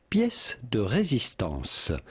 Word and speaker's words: pièce de résistance: Pièce de résistance. Pièce de résistance with the typical French pronunciation, but in English or American it would usually be pronounced pièce de résistance.